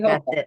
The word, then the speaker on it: Hochul: Kathy Hochul.